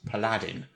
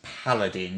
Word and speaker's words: paladin: and the word paladin I've heard pronounces palladin yeah yeah it doesn't paladin the emphasis is on the first symbol interesting stuff then we